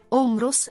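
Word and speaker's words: Ὅμηρος: Omero, in greco antico, Omros, pronuncia, Omros, ottavo secolo avanti punto Cristo.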